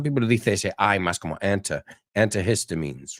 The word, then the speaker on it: antihistamines: But some people dice ay más como antihistamines, right? Más como suave. Antihistamines. Lo importante que es diferente que el español, la H se pronuncia.